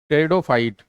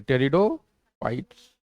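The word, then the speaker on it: pteridophyte: टेरिडोफाइट। टी इसमें क्या है? साइलेंट है। टेरिडो फाइट्स।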